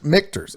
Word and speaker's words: Michter's: Michters. Okay. Like a K.